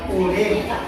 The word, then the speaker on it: urine: eksprresi berupa urine Veres tulisannya urine bacanya Uring Oke lanjut uringes dan